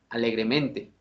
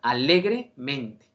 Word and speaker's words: alegremente: dos de sus sílabas si yo pronunciara esta palabra con solamente un acento sería lo siguiente alegremente sí alegremente pero como no lleva acento en una zona sílaba sino en dos que pase a con los adverbios terminados en mente pronunciamos alegremente alegremente se le da la fuerza a dos sílabas para que en este caso el adverbio tenga una pronunciación de manera correcta ojo estas son excepciones